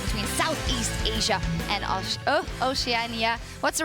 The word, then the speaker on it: Oceania: next 5 versus 5 between Southeast Asia and Oceania. What's the right way to pronounce it, Spawn?